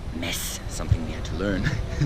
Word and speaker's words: Metz: here in mess and spelled MV TZ like the New York Mets well with a Z but pronounce miss something we had to